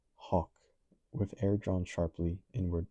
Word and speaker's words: hawk: anamanopic to the sound of a devouring m pronounced hawk with air drawn sharply inward to the mouth. So hawk, not gal, it's hawk.